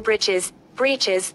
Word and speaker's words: breeches: Breeches, or short trousers. The writer here spells it, for fun, to rhyme with the word, which is.